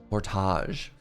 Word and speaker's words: Winnipeg: Now, most of you would pronounce this road portage, but in Winnipeg, portage.